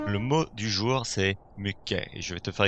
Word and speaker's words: mycket: Donc tu pourrais dire et tu pourrais entendre mycket. Parfois on va entendre le T. Je te conseille simplement de le prononcer comme ça, comme la prononciation native ici.